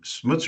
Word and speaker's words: Smutze: AI ready machines joining me today is Richard smutzer am I pronouncing that correctly yeah you've got it cool